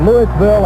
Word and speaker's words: Louisville: We call it Louisville and not Louisville.